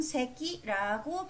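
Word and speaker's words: せき: 하는 이 금 독은 새끼라고 발음이 됩니다 색이 4 석자는 대부분 새끼로 발음이 되는 것 같아요 볼 석자 도 새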